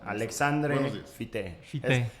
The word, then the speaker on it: Alexandre Fité: Alexandre Fité, es la pronunciación correcta.